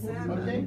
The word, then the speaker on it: salmon: I was 60 years when I found out that the L in salmon is silent.